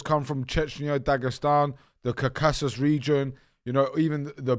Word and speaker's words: Caucasus: That's it, the Cacaos. No, I'm saying it wrong. Caucasus Mountains.